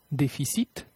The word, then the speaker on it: déficit: Cependant, la consonne finale est quelquefois prononcée. Déficit, déficit, cumul, cumul, sac, sac, donc, donc, amer, amer.